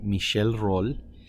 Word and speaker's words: Michel Rolle: and it was named after a French mathematician, Michel Rolle. And the only reason why I pronounced it correctly was because I called my friend that's a French teacher, Mrs.